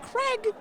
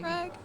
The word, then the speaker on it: Crag: Crag. Crag. Is it Crag? Like C-R-A-G? Yeah.